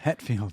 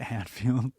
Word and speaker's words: Hetfield: Hetfield, not Hatfield. There's no McCori's fighting them. Oh, sorry. It's Hatfield. It say spell it. H E T. Het. Oh, I always thought it was Hat.